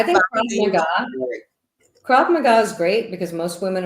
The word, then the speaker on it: Krav Maga: I think Krav Kickboxing Maga or Krav Maga is great because most women are small, and if you always will probably be faced with a larger attacker.